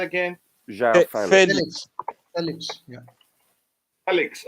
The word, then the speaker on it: Felix: Felix. Okay, like Nigerians would. Felix, not Felix.